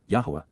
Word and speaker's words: Yahweh: correct and therefore acquitted, Yahweh, Yahwa, the proper pronunciation of the name of Eloha, God as directed in